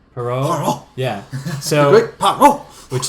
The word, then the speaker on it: Poirot: It's how do you pronounce the detective's name? Poirot. Poirot.